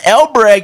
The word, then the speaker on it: Elbreg: who's your ecig and our good friend Don el Bragg is back good morning sir morning I'm always